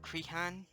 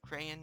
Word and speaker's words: Crehan: Joseph Crehan, or Crayon, or however you pronounce that, it's C-R-E-H-A-N, played Ulysses S.